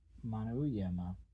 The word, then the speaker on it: Manyema: 15 days' march brought them to Bambar, the first important ivory depot in Manyema, or as the natives pronounced it, Manuyema.